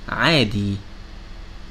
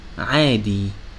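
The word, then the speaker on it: عادي: When it has fatha, it sounds a, like the word adi, adi, which means normal.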